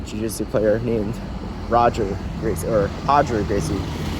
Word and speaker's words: Roger Gracie: a famous uh gjc player named Roger or hoder Gracie spelled Roger Gracie um yeah so I don't